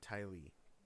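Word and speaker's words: Ty Lee: him oh my my uh my my and Ty yeah Ty yeah no they picked terrible candidates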